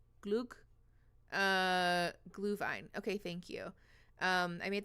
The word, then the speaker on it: Glühwein: How do you pronounce the Swedish one? Is it glug? Glug? Glühwein.